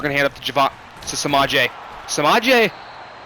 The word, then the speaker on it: Samaje: head up to samaje samaje kind of rhymes with Javonte so there's that I